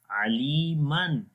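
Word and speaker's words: عَلِيمًا: That's why in written we say Aliman, like that, and in pronounced the Noon sound will be in the end as Noon Sakin sound.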